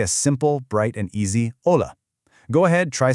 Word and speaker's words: hola: Here's the most famous Spanish word of all: hola. Now notice the golden rule here. The letter H, which is called H in Spanish, is completely silent.